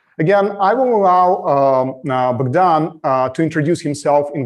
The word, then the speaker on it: Bogdan: saying uh that you're saying my name bogdan as it is in ukrainian because i get used to listening to someone who's calling me bogdan most of the time and it's a little